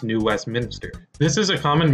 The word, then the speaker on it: New Westminster: for animation I also mispronounced Alex's Hometown as New Westminster when it's actually pronounced New Westminster this is a common mispronunciation even among people